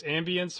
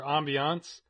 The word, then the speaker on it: ambience: You know, I actually had to look up how that's pronounced, because I didn't know if it was ambience or ambiance. And the dictionary doesn't know either, it has both in there.